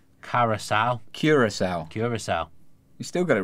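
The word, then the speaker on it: Curaçao: For future reference, not to take the mick because it is actually a hard country to pronounce, it's Curacao. Curacao.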